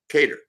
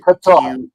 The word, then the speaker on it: Qatar: world is in the country of uh uh catered right I always pronounce that uh u I think incorrectly or incorrectly Qatar now I gota remember that remember rock